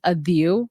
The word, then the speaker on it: Adhieu: before I was born so my name is pronounce adiu which means to cry or like to yeah